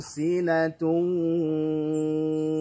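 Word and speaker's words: سِنَةٌ: Lalu kemudian sinatun. Ada dhammatani bertemu dengan huruf wawu, maka hukum bacanya adalah idgham bi gunnah. Sinatun ya, idgham dengungkan, kemudian suaranya masuk ke khayshum ya. Sinatun ya, sinatun ya. Huruf gunnah itu ya khayshum. Nah, kemudian jangan hanya sinatu, itu baru gunnah, baru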